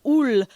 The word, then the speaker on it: Houle: Anyway, this band is called Oul. It's spelled Houle because it's French.